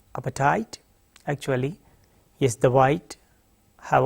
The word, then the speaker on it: apartheid: The pronunciation is apartheid.